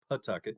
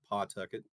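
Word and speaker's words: Phuket: it's funny because um I went to Pucket which all the locals there will say that it's pronounced Pucket not pcket so you can quickly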